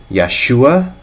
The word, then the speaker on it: Yahshua: And that name is Yahshua or Yahushua or Yeshua. Those are the three ways that I've heard it pronounced, and so I'm going